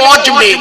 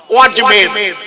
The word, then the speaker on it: অজমের: 6ই রজব আজমির শরীফে, আজমির আগে নাম ছিল আসলে জায়গাটার নাম অজমের, বানানটা অ বর্গের জ ময়কার ঢয় শূন্য র, অজমের। ওটা অপভ্রংশ হয়ে আজমির হয়েছে এখন, ভাষাটা আজমির নয়, আপনারা জানেন না।